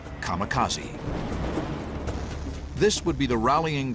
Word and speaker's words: kamikaze: called it Divine Wind which in Japanese is pronounced kamikaze this would be the rallying cry of Japanese